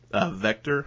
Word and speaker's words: VCTRE: It's actually pronounced Vector, I believe.